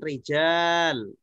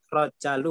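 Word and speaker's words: رجال: Kalau ini kan rijal panjang. Apaan? Ya, pasti rijal ya Ustaz ya, bukan rojalu bukan ya? Enggak. Pasti itu bacanya rijal karena ada alifnya.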